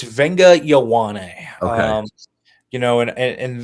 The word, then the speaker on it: Viliami Fehoko: Yeah, I was It's Viliami Fehoko.